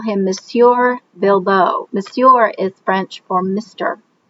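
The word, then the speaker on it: Bibot: Also, Bilbeau is spelled with a T at the end, but because it's there in France, the T is silent.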